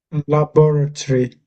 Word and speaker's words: laboratory: So laboratory. Yeah, that's it. Good. Good. Well done. Laboratory. That's it. Well done. Laboratory. Yeah. So it's a tree on the end. Tree.